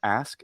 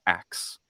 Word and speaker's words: ask: in the year 3000 every time they say the word ask it's ax yeah every time and it's